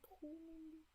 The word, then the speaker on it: Proust: I don't know how to pronounce it, but usually you won't pronounce these letters at the end in French, so Marcel Proust.